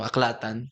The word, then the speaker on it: AAClatan: a c l a t a n so aklatan on on Facebook sa website that is our